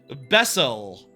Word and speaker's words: B3SSEL: Bessel.